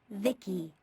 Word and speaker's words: Vici: transistors by the way i'm vici pronounced vicky my creator was vivisecto he's